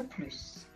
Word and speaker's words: plus: ou féminin pluriel attention on ne prononce pas le s de plus elsa est la plus grande de la classe